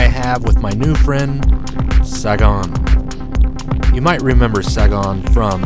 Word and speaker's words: Sagon: i i want to make sure that i pronounce it correctly yeah yeah okay saigon awesome uh i want to thank you for